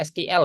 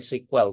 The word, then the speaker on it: SQL: atau SQL ini sebutannya biasanya SQL ya kalau di Indonesia tapi kalau kalau pelafalannya itu sebenarnya bacanya itu sequel teman-teman untuk pendeknya nah sequel